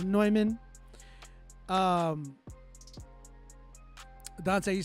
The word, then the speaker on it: Neumann: by neumann it looks like newman but it's pronounced neumann um dante you said my apollo is clicking